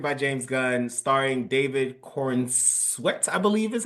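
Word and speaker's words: Corenswet: So, Superman, written directed by James Gunn, starring David Cornsweet, I believe is how you say his name. Is it Corn Sweat? I think it's Corn Sweat. Yeah, Cornsweet. Cornsweet.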